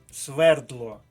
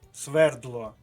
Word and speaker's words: свердло: переходимо до варіанту г свердло правильний наголос на першому складі ще раз свердло це слово Точно Треба